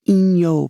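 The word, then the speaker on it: 陰陽: more Yang than Yen Yen and yangong is pronounced Ino by the way in Japanese if you ever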